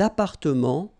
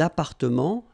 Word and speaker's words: appartements: Des appartements en copropriété. Remember, final S and final T are not pronounced here. Des appartements, little liaison here, des appartements en copropriété.